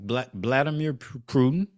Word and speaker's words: Vladimir Putin: How you pronounce his name? Vladimir Putin.